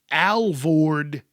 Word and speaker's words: Alvord: It's the Nike Air Alvord 10.